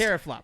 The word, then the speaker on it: teraflop: It's pronounced Teraflops.